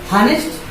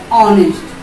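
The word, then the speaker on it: honest: एक्चुअलिस्ट, हॉनेस्ट? नो, इट इज ऑनेस्ट.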